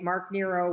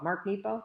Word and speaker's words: Mark Nepo: two every single day mark nero was uh was fighting cancer when he wrote this and it's beautiful so nippo mark nepo did i say it wrong nero i said nemo finding nemo i'll just read a snippet